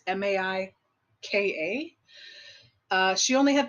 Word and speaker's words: Maika: And it all has to do, starting with the main character, Jay, played by, I want to say Maika Monroe. I'm not sure how you pronounce her name. It's Maika.